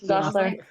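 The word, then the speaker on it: Gosselaar: And Mark Paul Gossalahar. I don't know how you pronounce it. Gosler.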